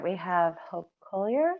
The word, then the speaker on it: Koehler: All right, we have Hope Collier. Sorry if I said your last name wrong. You said it perfectly. I am Hope Collier.